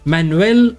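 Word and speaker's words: Manuel: मैनुएल बेलग्रानो, मैनुएल बेलग्रानो, because ये Spanish है तो इसका प्रोनाउंसिएशन मैनुएल होना चाहिए, मैनुएल बेलग्रानो।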